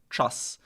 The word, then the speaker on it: czas: So I remember I think you actually used this as an example to help me with pronunciation last time. Czas.